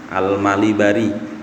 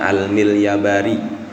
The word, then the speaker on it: Al-Malibari: Ini kitab ditulis oleh Syekh Zainuddin bin Ali Ahmad Asy-Syafi'i Al-Malibari, ada yang bacanya Al-Milyabari, yang beliau ini lahir di daerah Malibar.